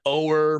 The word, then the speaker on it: O'er: Love Rain O'er Me, right? Yes. Did they say that's got a weird song title? Because it's not Rain Over Me, it's O'er.